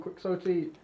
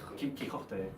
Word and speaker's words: Quixote: How do Spanish people say Quixote? Quixote. And in English we just said like Quixote, like as in like the same.